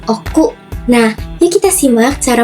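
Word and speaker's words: 奥: Cara baca ongyominya itu o, dan kungyominya itu oku.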